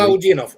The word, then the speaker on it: Alaudinov: So, first of all, here's General Apti Alaudinov. I hope I'm pronouncing his name correctly. Alaudinov.